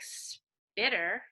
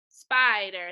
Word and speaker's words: spider: Go back and switch the vowel sound. Make that I into an I, right? Spider.